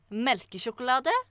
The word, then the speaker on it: melkesjokolade: It means, okay, I'm going to say the meaning and then I'm going to pronounce it. It means melkesjokolade, et lite stykke Norge.